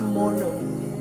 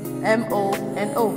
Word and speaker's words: Maono: shop with mono I keep mispronouncing it just pronounced mono m o n o that's how you pronounce it mono shop with